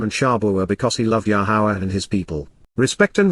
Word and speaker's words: Yahowah: Shabuah because he loved Yahweh and his people. Respect and revere, appreciate the astonishing awesomeness of Yahweh, the proper pronunciation of the name of Eloah, God as directed in